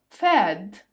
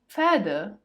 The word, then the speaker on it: Pferd: You say the P, but lightly, and the stress here is on the letter F. Das Pferd, die Pferde, das Pferd, die Pferde.